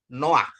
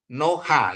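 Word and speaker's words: נֹחַ: ya stolen dia mencuri Ah ini jadi bacanya no Noah Noah ya bukan bukan apa bukan noha ya bacanya Noah ya stolen P ya pay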